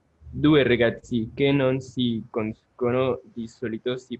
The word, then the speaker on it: conoscono: Van a tener el acento, es el esdrújulo, ¿sí? Que es en la antepenúltima sílaba, ¿ok? Conoscono, ¿sí?